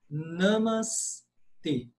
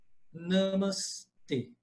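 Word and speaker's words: नमस्ते: E a pronúncia é essa: namas t. O e em sânscrito é sempre fechado. Isso é uma regra absoluta do sânscrito. E é sempre fechado. Nunca existe é em sânscrito. No nas línguas neossânscritas da Índia hoje, sim existe o e, mas no sânscrito antigo não existia e, só existia e. Então a pronúncia correta namas t, certo?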